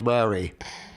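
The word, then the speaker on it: Marais: But the spelling of Murray is M-A-R-A-I-S. You got that? So the French pronunciation of that is Murray.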